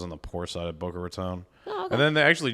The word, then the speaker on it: Boca Raton: Yeah, Boca Raton.